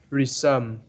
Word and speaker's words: resume: But do you know that this word has two different pronunciation as its verb or noun? Resume is verb, means to start something again. Resume. Yes. But resume is noun. That means your CV.